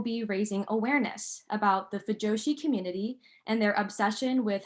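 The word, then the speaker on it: 腐女子: So while it's pronounced the same way, fujoshi, the first kanji has a very different meaning.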